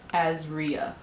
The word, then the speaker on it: Azria: I'm area but um Azria Ezria I just realized that a lot of you probably don't know how to say my name it's Azria that's so weird that